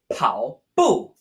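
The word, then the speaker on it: 跑步: Our first word for today is the word for jogging or running, pronounced pao bu.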